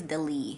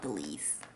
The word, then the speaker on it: de lis: But it is de lis. It's not the lis.